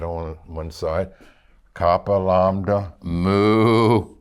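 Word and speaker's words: mu: Moo. I grew up on a farm. That's the sound of a cow.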